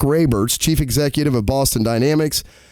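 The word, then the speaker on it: Raibert: as Boston Dynamics CEO I'm gonna say this is pronounced ray Bert's mark ray Mertz chief executive of Boston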